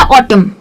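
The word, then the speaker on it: autumn: Spelling में एम एन जब आता है तो स्पेलिंग को जैसे हम जी में करते थे वैसे ही इसको थोड़ा सा खींचेंगे। जैसे कि मैंने बोला ऑटम या डैम या कॉलम।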